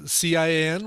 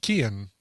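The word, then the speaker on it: Cian: ian but his but it's also like a hard a hard c as opposed to a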